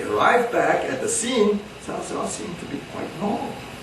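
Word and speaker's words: Cao Cao: difficult to pronounce because it's written c-a-o-c-a-o in the modern pinyin and the c is always pronounced as ts salsa and salsa ps is how it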